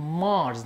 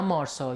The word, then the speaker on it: Mars: مارس، نه مارسا، یادتون نره تلفظ صحیح کلمه بسیار بسیار مهمه.